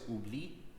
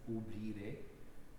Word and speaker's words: oubli: In French, primary accents often happen at the last syllable of a word. So if the word is oubli, forget, then the stress is on bli.